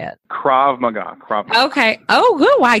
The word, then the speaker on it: Krav Maga: Krav Maga.